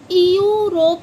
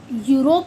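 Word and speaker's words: Europe: इ तो इसको हम क्या पढ़ते हैं? यूरोप पढ़। इयरोप नहीं पढ़ते। यूरोप बोला जाता है इसको।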